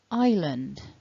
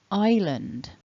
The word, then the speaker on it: island: together then we have island island island and hopefully what you've noticed there is that we are not pronouncing that s that is a silent s so if you say